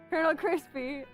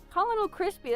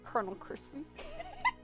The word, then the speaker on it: Colonel Krispy: But I saw this Colonel Krispy is how you know it is pronounced. Uh but my dumb 11 10ish yearear-old ass saw this and say Colin Colin Krispy.